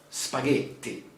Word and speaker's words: spaghetti: italy oh spaghetti okay we don't pronounce spaghetti spaghetti even here there is a double letter double team spaghetti spaghetti okay i think